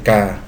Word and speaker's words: K: Vengo desde mi lugar de origen que lleva por nombre K, pronunciado como la letra K de su alfabeto.